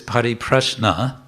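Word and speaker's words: परिप्रश्न: padi prash nena yes actually it's pariprasna but with a grammatical ending for the context it becomes pariprash nina prashna you know this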